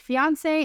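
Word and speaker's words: fiancé: from the French language fiance and fiance and if you're wondering whether or not these two words have different pronunciations the answer is no when a man and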